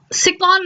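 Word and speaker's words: Tsirkon: Question number 25, which country launched the Sikon missile? T is silent.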